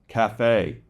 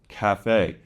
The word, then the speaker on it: café: And mostly this comes from loan words from French, café, café. So the C-A-F-E, the A is a short A, and the E is pronounced.